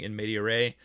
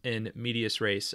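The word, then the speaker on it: in medias res: thought I was being all smart in my pronunciation by saying in Med aray but in fact it is in medius race apparently all of the uh all of the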